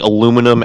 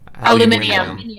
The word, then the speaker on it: aluminium: that would be like the difference between saying aluminum and Aluminium.